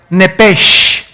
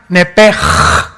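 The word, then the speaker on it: נפש: Esa palabra alma es la palabra hebrea Nepesh, así como suena, N-E-P-E-S-H, Nepesh. La letra o las letras S-H en el hebreo se pronuncian en hebreo como J.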